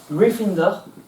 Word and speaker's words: Gryffindor: Gryffondor se prononce Gryffindor et Cédric se prononce Ravenclaw.